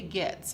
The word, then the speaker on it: Goetz: creations by jinx Etsy and she is J gets and that's pronounced like GE TTS but it's spelled goe